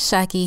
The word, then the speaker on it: Shaki: Shaki here, the one that rhymes with hockey, and it's short for Shakira, like the singer.